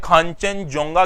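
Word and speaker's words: Khangchendzonga: इसको सिक्किम में खांचनजोंगा के नाम से भी जाना जाता है, तो उसका प्रोनाउंसिएशन होता है अलग अलग, तो आप कंफ्यूज ना हो।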